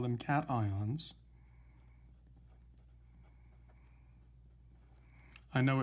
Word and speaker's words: cation: they are positively charged ions we call them cations i know it's spelled like it might be pronounced cassians or acacians but it's not it's pronounced cation